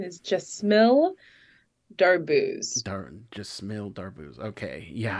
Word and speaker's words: Jesmille Darbouze: hear that thank you and in the full pronunciation is jmill daro Dar Jill daro okay yeah I know the